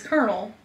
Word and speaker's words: colonel: like yeah this is calling you know it's Colonel it's pronounced colonel that's a colonial and I don't